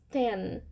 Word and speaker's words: ten: e por último 10 ten ten com som de n não com som de m tá vamos repetir agora